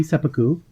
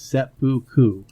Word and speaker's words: Seppuku: from the United States it is seppuku that was better than sepu all right and I